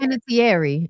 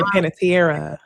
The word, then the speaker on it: Panettiere: Panettiere is how it's supposed to be pronounced. I always say Petere. Her mama was on Panettiere, like French, but it's not. It's Italian, and it's Panettiere.